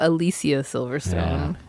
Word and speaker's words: Alicia Silverstone: even better movie though starring Alicia Silverstone Oh Alicia Silverstone is how her name is pronounced FYI pretty sure I learned that from